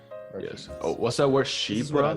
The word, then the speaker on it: Chypre: So if you smell my perfumes, for example, my Civet Chypre, you'll smell the fresh orange, you'll smell also